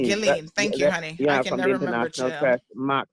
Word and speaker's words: Ghislaine: How does she pronounce the first name? Ghislaine. Ghislaine.